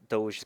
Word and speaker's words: Doge: familiar am I saying it right is it Doge or Dodger it's a doge like d o HJ that kind of pronunciation y Doge or j h do h